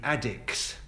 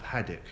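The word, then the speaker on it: Addicks: they were neighbours shot they're known as the addicts that's not addicts as in drug addicts that addicts do to southeast London pronunciation of haddock it says on my notes for I'm from southeast London and I say had it not a Duke Oh curse addict but I wouldn't say I dick anyway though they are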